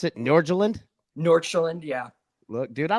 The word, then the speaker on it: Nordsjælland: Is that how you pronounce it? Nordsjælland?